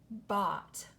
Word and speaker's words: bought: the thing I bought what words do you hear that rhyme in that sentence the words you see right in front of you don't you ought brought bot now first of all